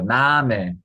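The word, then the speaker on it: Name: 좀 뭉개지 그냥이 끝에 있는 애도 좁은 애로 발음해 주면 되겠습니다 읽어보자 나메 메 이게 자연스럽게 끝이 죽으면서에 발음이처럼 이게 참고로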